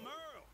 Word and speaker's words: Merle: Hey there, I'm Merle, spelled like Hurl.